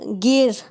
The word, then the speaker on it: gear: गियर, गियर, GEAR।